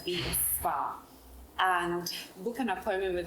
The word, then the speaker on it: vea.s_spa: And so you can find us on Instagram at vea.s_spa, pronounced as V Spa, and book an appointment with us and have the best massage of your life.